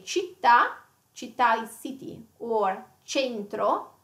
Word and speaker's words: città: So you wouldn't pronounce it kitta or centro. Yes. Yeah. Yeah. The C sound yes, nice as well. Yes. So it has to be città, you know città centro.